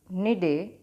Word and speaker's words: Cnidaria: आपको एक और फॉर्मूला याद करना है, दैट इज पॉरी निडे. निडे में सी साइलेंट है.